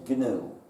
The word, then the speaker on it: GNU: than that you see GNU is the most humor charged word in the English language because according to the dictionary the g is silent and that looks very